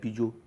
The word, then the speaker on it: Peugeot: Some people call it Peugeot, but in Nigeria it's a Peugeot. It's a Peugeot.